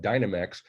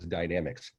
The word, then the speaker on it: Dynamex: Some call it Dynamex, but I'm told the actual pronunciation is Dynamics.